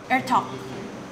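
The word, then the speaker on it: Etok: Pronounced like Ertok. That's for you, Ivana. Ertok.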